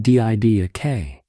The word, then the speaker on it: Didache: It is called the Didache, pronounced D-I-D-A-K, pronounced from the Greek word for teaching.